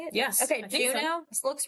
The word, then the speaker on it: Juneau: Okay, Juneau.